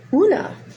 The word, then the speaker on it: Oonagh: you who it is, because I believe it's Irish Gaelic, so I'm never quite is pronounced the way it looks like it would be. Una. Una. It's spelled Oonagh, but you know, Irish Gaelic.